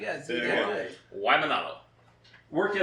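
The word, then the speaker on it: Waimānalo: Waimanalo. Yep. What? How do you say that? Waimanalo. Wow, you guys did Yeah. that good. Waimanalo.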